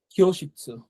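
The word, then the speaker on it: 教室: এটা হচ্ছে কিয়োশিৎসু, এটা হালকা ক্ষয়ের মতো কিন্তু উচ্চারণ হয়, কিয়োশিৎসু, হ্যাঁ। কিও একবার কড়া করে কিন্তু ক বলে না, হ্যাঁ, আবার কড়া করে খ কিন্তু বলে না, হ্যাঁ। মানে একবার খুব হার্ডলি খ, হার্ডলি ক এরকম না, কিন্তু দুইটার মাঝখানে হালকা করে ক্ষয়ের মতো।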